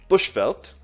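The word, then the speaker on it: bushveld: for us bushfelt okay careful attention to the pronunciation of the second part of this word felt bushfelt is grassland with dotted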